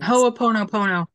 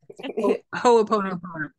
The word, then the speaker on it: Ho'oponopono: Yes, that's one of, I can never pronounce that correctly either. Right. that beautiful Hawaiian, the forgiveness mm-hmm. practice. Mm-hmm. Ho'oponopono.